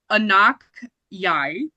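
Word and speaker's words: Anok Yai: I wrote down how to pronounce her name because I didn't know who she was. Her name is Anak Yai.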